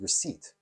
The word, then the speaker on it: receipt: recaped no it says receipt wait hold on why is there a p there well don't worry about that it's you know it's a silent letter it's it's there but you don't pronounce it you got to be